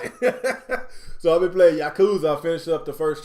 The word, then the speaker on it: Yakuza: I'm G try to I'm G try to pronounce this game uh the right way Alex Yakuza is that is that right you got it